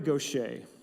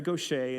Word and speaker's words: Gauthier: Her name is Mary Gauthier, and it's spelled Gouthier, but she's Southern. Gauthier.